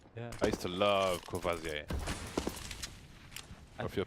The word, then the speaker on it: Courvoisier: Courvoisier.